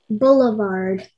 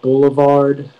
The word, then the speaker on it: boulevard: It can be boulevard, boulevard, or boulevard.